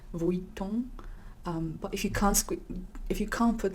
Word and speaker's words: Vuitton: So it's Louis, the S is silent, and as well as the N in Vuitton. The UI is actually set, it's Vuitton.